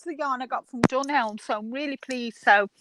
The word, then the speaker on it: Dunelm: Okay, but you don't pronounce the M or what? Doesn't sound like you pronounce the M. Yeah, Dunelm. Oh, you do say it.